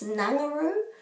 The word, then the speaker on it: Ngunguru: I think people often call this Ngunguru. However, this is always u. U, u, u. So it's going to be ngu, ngu, ngu, ru. They all rhyme with each other. Each of the three syllables.